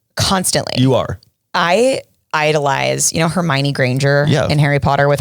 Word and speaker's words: Hermione: She was Hermione to me. Oh, well, that's what it looks like. Yeah. And I was like, oh, Hermione is how you say that.